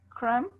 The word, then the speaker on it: crumb: Silent B usually comes after an M. Okay, climb, not climb. Climb, comb, crumb, thumb, and tomb. Please say it again.